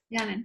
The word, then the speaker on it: Yanin: Yanin. Is that how you say it? Yanin. Yeah. Okay.